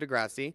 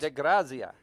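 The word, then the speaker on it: DeGrazia: It's by Edward DeGrassi. It's a signed print. De Grazia. Okay. De Grazia. Apparently we're going to pretend we're in Italy right now and pronounce it that way.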